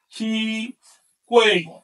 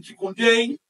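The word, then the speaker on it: chicuēyi: Que se pronuncia en náhuatl Chicuey. En algunas variantes modernas se dice Chicoyey, Chicoyey. En náhuatl clásico, Chicuey.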